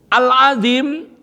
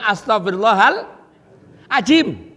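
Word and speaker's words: العظيم: Al-azim agung, maha benar, maha besar, maha agung. Dibaca al-azim, ini loh. Taring. Astagfirullahaladzim. Aku minta ampun pada Allah yang punya taring begitu.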